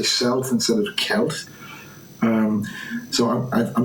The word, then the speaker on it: Celt: The pronunciation of Celt should be with a hard K sound like Celt.